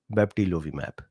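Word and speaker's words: bebtelovimab: a separate thing they have all failed except baptilovi map now I pronounced it correctly Denise says what Dr Bean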